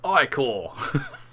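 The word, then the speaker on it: ichor: thou need aid magical i-corps that's pronounced i-core choose your i call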